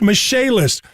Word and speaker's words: Michaelis: incredible professionalism in emergency services and insurance restoration michaelis has experts in waterproofing foundation repair mold remediation indoor air quality and general contracting spelled m i c h a e l i s pronounced mache list call 844 fix indy that's 844 fix indy